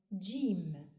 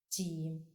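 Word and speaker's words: جيم: The fifth letter is pronounced Jim and is written from right to left on the line as it goes down, making a semicircle shape. Jim has one dot down. Jim, like in gentle.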